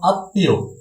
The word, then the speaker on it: আত্মীয়: রয়েছে ত বর্গীয় ধ্বনির সাথে ম ফলা থাকলে ম ফলা দ্বিত্ব উচ্চারণ হয়। যেমন আমাদের হচ্ছে সরেয়া ত ম ফলা দীর্ঘিকার অন্তস্থ, অর্থাৎ আত্মীয়।